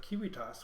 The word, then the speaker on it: Civitas: a Latin word and the ancient Romans would have not pronounced that c soft it would always been C hard and the V well